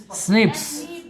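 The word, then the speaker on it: SNPs: लोग क्या कहते हैं इसका क्या उच्चारण करते हैं बताए स्निप्स क्या लिखा है स्निप्स ठीक है ना स्निप्स नहीं स्निप्स क्या पढ़ेंगे इसको स्निप्स एस एन पी स्निप्स कहेंगे इसको एस एन प एस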